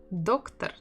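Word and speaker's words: доктор: same as in English doctor doctor again we have double o and where is the stress doctor doctor doctor on the first syllable that's where the first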